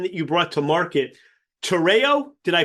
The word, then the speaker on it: Tereo: Tereo, did I pronounce that correctly? Yep, Tereo, either.